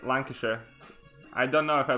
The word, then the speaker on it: Lancashire: How do I pronounce Lancashire? It's Lancashire. I don't know if I pronounce it right, obviously, because I have a fairly thick accent myself. But as far as I can tell, it's Lancashire.